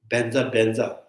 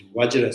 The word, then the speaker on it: Vajra: Actually, it's Vajra Sadhu Samaya. In the Bangladesh, people would decide Bajra Sadhu Samaya.